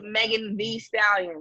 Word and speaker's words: Megan Thee Stallion: Megan Thee Stallion is Megan the Stallion, but it's THEE, but it's Megan the Stallion. You have to spell it out.